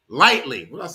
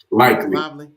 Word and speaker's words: Likely: Lighty. Isaiah Likely. Lightly. What did I say? Lively. Likely. Yeah, that's likely. Like the lightly. No, Okay. Likely. Likely. Likely. Yeah. All right. Well, I'm going by how they pronounce it. I was thinking it is light, whatever.